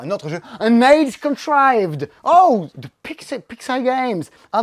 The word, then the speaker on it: Contrived: Dans les plus grosses boîtes sorties cette semaine, il y a An Age Contrived. Contrived. J'ai vérifié, ça se prononce contrived.